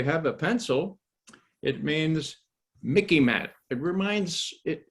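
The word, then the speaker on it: MICIMATT: a pencil it means mickey matt it reminds it it sort of rhymes with mickey mouse so you can remember it m so military industrial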